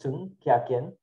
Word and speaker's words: Ch'ng Kiah Kiean: My name is Chung. Pronounced is Chung Kiah Kiean, or many people know me as.